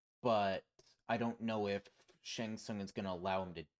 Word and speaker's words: Shang Tsung: Yeah, However, on the other hand, Shang Xuan, or how are we Shang Tsung. pronouncing? Shang Shung, yeah, Shang Tsung, There we go.